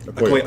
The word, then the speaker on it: Okoye: How do you pronounce her name? Okoye.